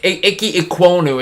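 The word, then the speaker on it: Ikem Ekwonu: Cincinnati, and the Giants, McShay says offensive tackle Ike Minoku from NC State. Yeah, Ike Ikwonu is how you pronounce it.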